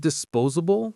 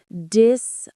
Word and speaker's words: disposable: Let's sound that one out. Disposable. Disposable. The stress is on the second syllable, po, and that S in the middle has a Z sound.